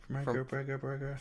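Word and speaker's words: Vera Farmiga: Verga Farmiga.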